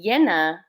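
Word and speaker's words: llena: in Spanish and then yenna with the double l n a is full so full moon is Luna yenna and um in Spanish it can be pronounced Jenna or Yen and so in so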